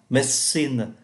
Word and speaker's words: medicine: mathematics, ngành toán học, medicine, ngành y học, sociology, xã hội học. Medicine là y học, chúng ta không phát âm ký tự ơ giữa.